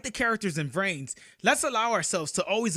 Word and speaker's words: Vrains: did you know that in Japan you pronounce a V with a B sound so brain just pronounced brains like the English word brains yuusaku just happens to